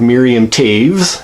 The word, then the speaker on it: Miriam Toews: it's a Canadian author by the name of Miriam caves not pronounced as it is spelled and they are